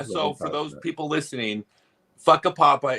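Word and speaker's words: Whakapapa: So for those people listening, Fuckapapa is the correct pronunciation of the town.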